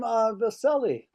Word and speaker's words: Vasili: Let's move on to Tom Vasili. Is that how you say it, Tom? Yes, you got it right. It's the silly at the end.